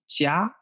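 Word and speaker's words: 家: let's see another thing with popcaito this is pronounced jia meaning home house or family this is very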